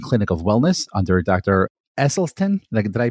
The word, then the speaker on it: Esselstyn: Esselstyn. Did I pronounce that right? Excellent. Dr. That's Esselstyn.